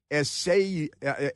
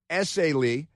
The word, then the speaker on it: Essayli: Attorney for the Central District of California, Bill Essay, I know how to pronounce it. It's Essayli, said the FBI has offered a $50,000 award.